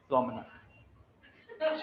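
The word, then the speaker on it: promenade: नाड, नाड या नेड नहीं होता, नेड, प्रोमेनेड, प्रोमेनेड। देखो ये यहाँ से प्रोमेनेड ये बताएगा, देखो ये जाता रहता है ना, बताइए। नेड नहीं है, प्रोमेनाड ही है, प्रोमेनाड।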